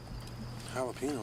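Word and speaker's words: jalapeño: Jalapeno? What flavor's that? Ricky, the J's silent. You're saying it wrong. The J's like an H, Ricky. The J's like an H, Jalapeno.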